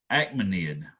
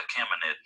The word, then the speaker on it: Achaemenid: babylonian empire and it's also called that acme acmanid i'm sorry acme net i think i'm saying